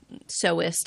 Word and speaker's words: sewist: I don't like sewer is a word, but it's spelled like sewer. Okay, so you're when you see it, it looks like sewer. So I say sewist.